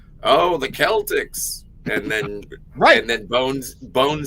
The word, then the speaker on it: Celtics: There is no such thing as Boston Celtics. It should be Boston Celtics. Boston Celtics. Well, Celtics.